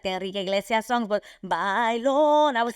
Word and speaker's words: Bailon: So Adrienne Bailon, I love even pronouncing it the way we pronounce Bailon, and that you say it Bailon.